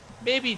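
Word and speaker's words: Mei: No, you keep that development, maybe develop other characters. DeGil Vids, the final Doom boss, the Ice Demon. M-E-I, how do you pronounce that? May.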